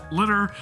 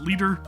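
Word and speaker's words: Liter: Next up, Litter. Some people may pronounce it Leader. It's Litter from what I understand.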